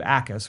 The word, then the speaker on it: Jacas: I look at Gabe Jacas, who is spelled with a silent J in the beginning, Jacas.